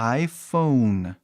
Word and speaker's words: iPhone: No inglês, falamos iPhone. Por quê? O E fica mudo. E aí, o vogal anterior, o O, somente o O, fala o seu nome.